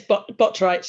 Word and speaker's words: Botwright: So Botwright, am I saying that right? Yeah, it's Botwright, yeah.